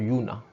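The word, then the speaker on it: juna: vous prononcez bien et yuna en fait le ji ci se prononce comme dans yaourt le sont ils d'accord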